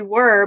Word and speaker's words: were: the beginning but then that e-r-e makes the er sound can you say er